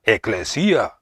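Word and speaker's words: ἐκκλησία: La palabra hebrea, que se pronuncia kahal, es equivalente a la palabra griega, que se pronuncia eclesia, que significa llamar juntos, o reunirse, juntarse, congregarse.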